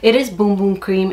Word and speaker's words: Bum Bum: crazy when i say boom boom cream except that's how you say it in brazil it is boom boom cream it's not bundling